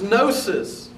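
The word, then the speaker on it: gnosis: knowing knowledge the the Greek word uh for knowledge is nosis it's spelled if you're transliterate in g n o s i s uh the gnostics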